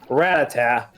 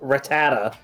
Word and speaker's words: Rattata: They changed the pronunciation for uh Ratata uh to Rattata. Yeah. They flipped back and forth between Ratata and Rattata ever since the anime's dub started.